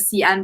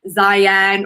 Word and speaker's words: Xi'an: the name as like zion or zhiyan uh so just a bit of an fyi in chinese the x the letter x is more of a sh sound uh rather than a